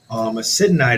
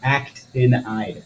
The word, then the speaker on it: actinide: Acidanide is also. You say it wrong all the time. Actinide. Actinide, yeah.